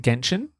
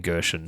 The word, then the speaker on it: Genshin: Yes, is it Genshin? Genshin. Genshin. I keep saying Gershon. Yeah, you say it wrong every time, and I didn't want to correct you because I was hoping you'd go first.